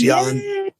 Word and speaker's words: Yohn: L E Y O H N pronounce Yan, right?